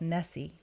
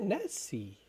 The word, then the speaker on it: Nessie: When I misspoke, it's Professor Randolph Nessie. Is it Nessie? Mm-hmm. I have been saying it wrong, too. I've been saying Ness.